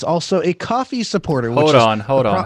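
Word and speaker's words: Ko-fi: can also be for coffee now coffee is the proper way to pronounce cofee and it's another way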